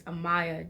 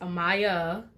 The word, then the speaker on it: Amaya: For those of you who don't know, my name is Amaya. Yes, Amaya, like Maya, but with in the front, and as in Monday, Tuesday, Wednesday, days of the week.